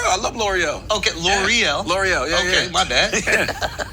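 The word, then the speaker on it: L'Oréal: L'Oreal, yeah, Okay, yeah.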